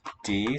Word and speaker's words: det: Det, silent T, regner.